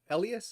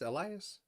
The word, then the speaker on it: Elias: Elias? Elias? Yes, they are both correct. If I'm gonna add a third one, the more Spanish variant, if you know, se habla español, Elias as well.